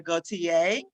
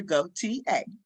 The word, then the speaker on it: Gautier: my name is Gautier um pronounced just like a chair go t a um it is French um about myself I